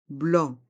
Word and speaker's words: blanc: de vin blanc dans le mot blanc il y a le son en avec les lettres a et n mais attention le c est mué blanc une bouteille de vin